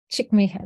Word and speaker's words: Csikszentmihalyi: It's Csikszentmihalyi.